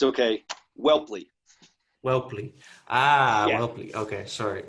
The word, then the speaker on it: Whelpley: It's Whelpley. It's a hard name to pronounce, but my dad would be disappointed if I didn't correct you on the pronunciation. It's okay. Whelpley.